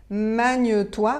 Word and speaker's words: magne-toi: manier manier maniez-vous voilà je répète pour que vraiment vous entendiez bien magne-toi Magneux toi maniez-vous là vous avez vu j'ai dit Manu toi mais vous savez quand on parle rapidement on assemble et on va dire magne-toi magne-toi ok donc si vous entendez